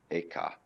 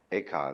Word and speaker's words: Eka: Bodhidharma had a pupil by the name of Eka, Huike in Chinese. Eka is Japanese pronunciation, like Zen is the Japanese pronunciation of the Chinese Chun.